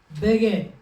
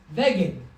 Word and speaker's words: beged: Because if we didn't have it in there, it would be veged, Oh.